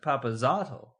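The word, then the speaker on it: Papazotl: But it says here it's pronounced Papazotto. That's not how Group A pronounces it.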